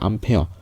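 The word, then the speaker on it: Ampère: 앙페르 법칙의 핵심은요, 요런 것들을 이제 앙페르 법칙이라고 할 건데요. 암페어입니다. 암페어. 그걸 프랑스식 발음으로 하면 앙페르가 되는데요.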